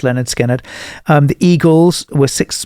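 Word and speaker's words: Lynyrd Skynyrd: Leonard Skinnard had just released or they were just about to release Leonard Skinnard, pronounced Leonard Skinnard.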